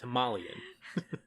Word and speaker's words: Himalayan: they made a very big deal that it's pronounced himalayan but obviously you have the yeti there and